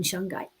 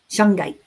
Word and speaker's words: shungite: in shungite.